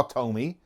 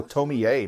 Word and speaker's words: Tomie: it's all about oh tomier not just Tony yeah Tomi I thought he just told me that last e must be pronounced like a name oh oh gruesome they